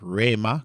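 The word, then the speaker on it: ῥῆμα: So, the word of Christ, so the word rhema, Colossians 3:16. Rhema, rhema. Remember, whenever the rho begins a word, you always want to pronounce it with a rough breathing mark.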